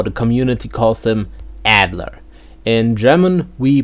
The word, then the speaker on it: Adler: the community calls them Adler in German we pronounce him Adler so that's two syllables again a la Adler the